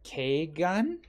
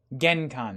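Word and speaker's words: 玄関: Keigan? Geikan. Front door. Genkan, there we go.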